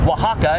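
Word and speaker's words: Oaxaca: So Wahaka is actually spelled O-A-X-A-C-A, but we figured we'd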